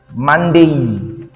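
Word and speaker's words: Monday: তাহলে ডি এ ওয়াই এটা ডে হবে না হবে ডেই। তো এখন যদি আমরা জানতে চাই কিংবা হচ্ছে যদি শিখতে চাই যে ইংরেজির সপ্তাহের প্রথম দিনটি কি? ইংরেজির সপ্তাহে মানে ইংলিশে প্রথম দিনটি হচ্ছে মানডেই।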